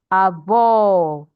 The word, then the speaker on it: avó: So, you stress the second to the last syllable if the word does not have accent, but if the word has accent, you will stress the accented syllable.